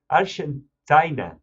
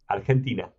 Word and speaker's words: Argentina: Argentina. Argentina. Argentina. How do you say it? Argentina. Argentina. Okay, so it's the same. It's just the G is pronounced differently, which I recently learned because...